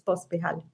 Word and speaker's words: Pospihalj: and sci-fi episode, because we're here with Pospihalj. Am I saying that right? How do you say your surname? Yes, it's Pospihalj.